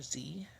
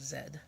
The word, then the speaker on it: zed: Mun type stuff said which is another way of saying the letter Z we do both but the traditional British tradition is Zed so like X Y Zed and that's because the Americans say Z click that's referring to